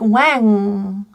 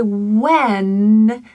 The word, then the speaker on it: when: The N in this word is very tricky for some people as they will use a back of the tongue sound instead of the tongue tip. So it may sound like wang by accident.